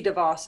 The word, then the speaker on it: DeVos: DeVos. You know, I know that you guys were the, what is it? DeVos? Betsy DeVos, I think.